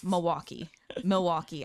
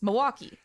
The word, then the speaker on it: Milwaukee: by hearing them pronounce Milwaukee. Here's a hint. The L is silent. And then somebody said the L is definitely not silent. And then somebody said Milwaukee.